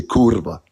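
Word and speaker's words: kurwa: I'll say it in Polish Polish we say kurva and and and like right so yeah if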